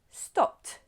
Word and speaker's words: stopped: Stop, stopped.